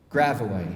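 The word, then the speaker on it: Gravois: crunch of gravel walks gravaway rhymes with illinois at the ragged edge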